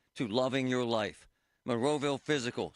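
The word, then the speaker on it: Fyzical: You want a new physical therapy experience? You want a treatment plan centered on you? Monroeville Physical, spelled F Y Z I C A L is spelled different, you know, because they are different.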